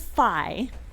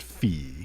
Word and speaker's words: phi: The Greek letter is fi and the kid pronounces it fee.